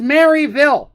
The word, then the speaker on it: Maryville: with flying it goes to maryville and it's pronounced maryville let me explain something to people here real